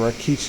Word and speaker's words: Rikishi: the first part of his name is this Raki. So like that's why I keep on trying to say Raki, but I gotta keep on under my breath saying Rikishi if I could pronounce it correctly.